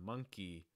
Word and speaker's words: monkey: Monkey, monkey, making sure that you hold that long I sound at the end. So it's not monkey, it's monkey, monkey.